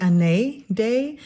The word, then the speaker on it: Année: by Morgan O'Brien uh any day now it's the first mystery I believe is how it's pronounced um the accent is over the E so it could be an day I'm calling her any